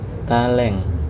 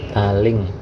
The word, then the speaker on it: taléng: Ini nanti namanya taleng. E, ingat kalau udah coret bacanya E. Taleng atau taling. Sama saja ya. Ada yang bilang taleng, ada yang bilang taling. Dah, bentuk dari pengangge suara E ini, taleng ini, bentuknya seperti ini.